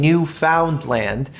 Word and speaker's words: Newfoundland: A Newfie is a Newfoundland. And I know it sounds like I'm saying New Finland, but I'm saying Newfoundland in a way that it's properly pronounced.